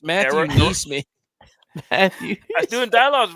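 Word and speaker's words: NeSmith: It's Matthew Neesmith.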